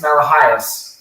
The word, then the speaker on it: Malahais: know we're really close that's how you say it in Greek uh it's malahais I won't get voted